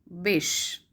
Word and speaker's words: Bysshe: Next question is, how is the second name of Percy Bysshe Shelley pronounced? So we have option Wish, Wishy, Wishy, and Bash. So the right answer is Bish.